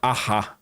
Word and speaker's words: Arras: Tinha acontecido alguns dias antes um contra-ataque blindado britânico numa cidadezinha chamada Arras. Escreve Arras, mas pronuncia igual a banda. Sei. Take on Me.